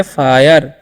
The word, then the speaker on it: fire: तो इसीलिए हम इसे पढ़ेंगे, FIRE है तो पढ़ेंगे फायर।